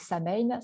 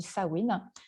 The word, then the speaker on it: Samhain: Le prochain qu'on va voir, alors ça s'écrit Samain, certains disent Samain, ça se dit Samhain.